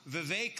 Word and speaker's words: Vivek: Vive like cake and Ramaswami like Ramaswami is the way I like to say it.